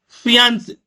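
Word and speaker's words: fiancée: साथी मंगेतर यदि लड़का है तो उसको बोलेंगे फियांसे फियांसे और अगर मंगता लड़की है तो उसको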